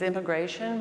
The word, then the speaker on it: I'm migration: I'm migration. It's immigration, but with the apostrophe. It's pronounced I'm migration, and that is a